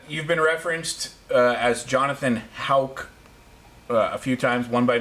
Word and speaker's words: Hauck: We don't know if it's Hawk or Hack or Hake. Yeah, and the most common mispronunciation of our last name, Hauck, is Hawk.